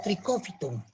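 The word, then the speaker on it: Trichophyton: Los géneros más importantes de los dermatófitos son el tricofiton, que se escribe así como están viendo, trichofiton y se lee como tricófiton.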